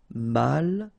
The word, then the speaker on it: malchanceux: Final X not pronounced. C-E-U, ce, malchanceux.